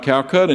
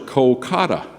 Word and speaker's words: Kolkata: name of these cities, they've changed the names of a lot of them back to the old Indian pronunciation. Like you've heard of Calcutta. Well, it's not Calcutta anymore, it's Kolkata.